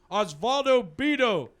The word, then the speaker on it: Osvaldo Bido: Osvaldo Bido got called up. Can you spell that?